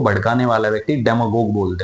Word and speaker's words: demagogue: डेमागोज। डेमागोज कौन होता है? डेमागोग बोलते हैं, वैसे इसका प्रोनाउंसिएशन होता है DEMAGOGUE। डेमागोग।